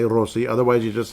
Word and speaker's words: Rossi: You have to roll the R, then say Rossi.